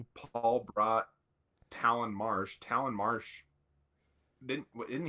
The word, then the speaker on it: Talon: And just so you know, according to the depth chart, Talon rhymes with gallon.